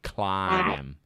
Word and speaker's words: climb: nothing clean yeah hannah but it's not clean mitz look at the phonics hannah look at the fonts cly i climb yeah to climb